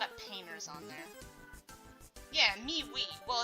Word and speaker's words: MeWe: Yeah, MeWe. Well, it's actually pronounced me and, like, M-E-W-E.